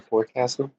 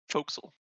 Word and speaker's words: forecastle: For some reason, someone decided to make it pronounced like that.